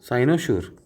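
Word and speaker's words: cynosure: साइनो साइनो शोर साइनोसोर। Okay? तो इसको कैसे प्रोनाउंस करोगे?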